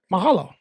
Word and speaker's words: mahalo: Mahalo. Mahalo. Yeah, that's I said it right. Light. Mahalo.